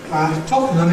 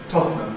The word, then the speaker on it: Tottenham: Full form is Tottenham. Syllabic consonant formation changes n to n, giving Tottenham. Compression removes the syllabicity at the end, giving Tottenham, which is the usual fast pronunciation, Tottenham. T before N, nowadays increasingly a glottal stop, so we end up with the pronunciation Tottenham Court Road.